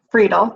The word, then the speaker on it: Friedel: Friedel, yep.